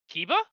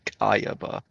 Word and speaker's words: Kaiba: Kiba? No, I'm pretty sure it's supposed to be Kayaba.